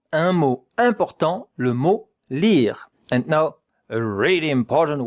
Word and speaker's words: lire: The only difficult thing here is the French R.